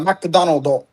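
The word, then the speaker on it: マクドナルド: Well, it's in English, but they their pronunciation is like McDonald's. There's no word for McDonald's in Japanese. They just say uh Macdonald do, which is like they spell it in katakana.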